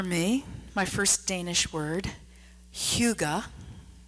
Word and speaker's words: hygge: Only I'm not saying it right. I'm going to spare you the throat-clearing pronunciation, but you get the idea, and you can practice saying it wrong with me if you want.